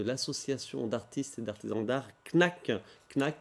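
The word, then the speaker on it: Knaaack: d'artistes et d'artisan d'art knac knac qui s'écrit comme ça se prononce k n a a a C k avec 3 a pourquoi avec 3 a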